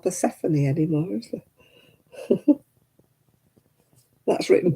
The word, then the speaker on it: Persephone: Man, there's not many people called Persephone anymore, is there? That's written Persephone. I know I read a book all the way through and I was reading Persephone. Then I found out afterwards it was Persephone.